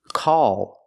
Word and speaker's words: call: all call Ball wall and the L is a dark l so tense the tongue it's not a light l l it's a dark L the tongue is tensed and raises up a little bit in the back all call Ball wall the vowel sound is a plus the dark l so if I change